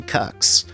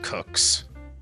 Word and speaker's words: Kucks: They'd get cuxed by little-known Yankees hurler Johnny Cucks, who would completely shut down the Dodgers' offense. Okay, it's actually pronounced Cooks.